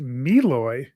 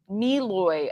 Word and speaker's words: Malloy: Oh, and Jennifer just said that Google says Malloy is pronounced Meloy. Meloy.